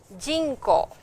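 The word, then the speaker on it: 人口: Then we have jinko, jin, this is the word that we are doing, and ko is a different kanji, of course we will do it later, but the word is jinko, jinko, jinko, okay, jinko.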